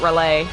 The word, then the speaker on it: Raleigh: from Lovecraft's Cthulhu really Raleigh huh that's funny though most people who don't live here call it relay yeah relay that's how people outside it's called Raleigh but everybody I know